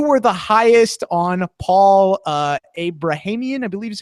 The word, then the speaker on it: Abrahamian: Melissa, you were the highest on Paul Abrahamian, I believe is how you say his last name.